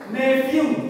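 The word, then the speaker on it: nephew: kemenakan keponakan laki-laki itu bahasa Inggrisnya neevw coba ngomong new semuanya neevw itu keponakan laki-laki kalau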